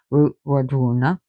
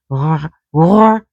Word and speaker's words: Wardruna: But it should be pronounced Wardruna. So the D is a DH.